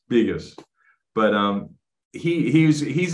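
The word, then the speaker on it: Begos: bigas he um and it's pronounced biggest by the way not Vegas biggest but um he he's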